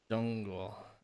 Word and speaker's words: 中国: I still pronounce the ZH thing, fucking like CH. 我来中国. Zhongguo.